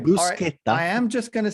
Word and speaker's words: bruschetta: It's bruschetta. Do not say bruschetti. Okay. I will come there and strangle you. Exactly what I was about to say. All right. No. All it's right. bruschetta.